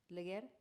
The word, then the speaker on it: Leger: How do you say her name? Leguer. Leguer, not Leher.